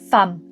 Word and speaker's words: femme: On écrit femum mais on prononce femme avec un a.